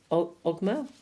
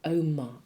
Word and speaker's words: Ogma: We have, okay, Ogma. This was in pile 1. I think it's pronounced Oma, actually. But anyway, what's your words?